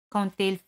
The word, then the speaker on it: quand il: Quand il fait mauvais. Quand il, D se pronuncia T. Quand il fait mauvais.